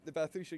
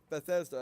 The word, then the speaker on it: Bethesda: Sure, there's the Bathsheba games, or Bethesda, if you want to pronounce it correctly.